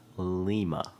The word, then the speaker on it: Lima: peru that is incorrect it's called lima you pronounced her off because you're a gringo peru is where my